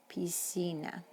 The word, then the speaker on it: piscina: we pronounce these words when there's an iron e after c it changes the sound of the letter c to s like in pisina in english we've seen